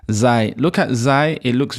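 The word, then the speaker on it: ز: Then the next one is zai. Some people pronounce it as za. Zai is zai. It's more zai. So put like an I, Zai, Zai.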